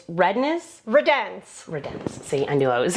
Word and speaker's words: Redenz: Guys, I don't want to say your last name wrong. It's Redenz? Redenz.